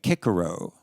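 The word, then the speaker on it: Cicero: Kickaro, Kaisar, not Caesar. So when they pronounced it, it was still Kirk, Circ.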